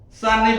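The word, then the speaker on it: צניף: sanib ya sanib membacanya sanif ini membungkus artinya diterangkan membungkus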